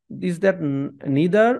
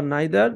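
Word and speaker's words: neither: যেটাই যে কান্টস নামক ভদ্রলোক তারও হইতে পারে নিদার অথবা নাইদার দুইটা উচ্চারণে সহি একটা আমেরিকান উচ্চারণ আরেকটা ব্রিটিশ উচ্চারণ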